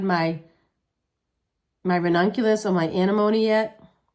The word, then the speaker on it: anemone: I haven't started my my ranunculus or my anemone yet. Anemone. I always say it wrong. It's anemone. I don't know why I call it anemone, but uh it's anemone anemone anemone.